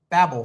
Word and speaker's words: Babel: up with the Babel fish. So yes, it's But that's the thing. one. In my pronunciation, it would be Babel fish, not Babel fish.